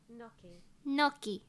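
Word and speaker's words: gnocchi: right here we go no noi oh I was right no noi oh that's British hold on American noi what the noi wait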